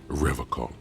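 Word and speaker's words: Revachol: to stay strong forever he pronounces River call with a hard K unlike serious question time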